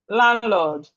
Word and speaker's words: landlord: Landlord. So the D here is silent.